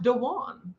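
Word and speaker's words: Duane: right yeah it's that's traditionally dwayne but his brother's name is pronounced dejuan and so yes and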